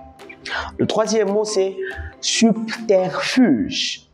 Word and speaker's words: subterfuge: Le troisième mot, c'est subterfuge. Déjà, ça s'écrit avec B, mais les B se prononcent peu.